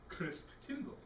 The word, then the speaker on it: Christkindl: In Germany, Christ child is said Christkindl.